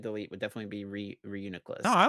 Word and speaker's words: Reuniclus: its name correctly but that is not how you say his name he say it told me re uniess because it is a unique re yeah okay not uh reu nucleus or something like that that's how I thought